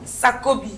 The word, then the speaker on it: Sakobi: Alors, je crois que j'ai bien prononcé votre nom. Sakobi.